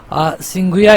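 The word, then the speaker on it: Tsinghua: China China की जो सिंघु या यूनिवर्सिटी है देखिए इसमें जो टी है साइलेंट हो जाएगा सिया यूनिवर्सिटी को पहला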